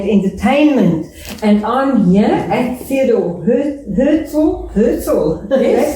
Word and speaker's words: Theodor Herzl: Here's Marianah Lourens with Art and Entertainment, and I'm here at Theodor Herzl.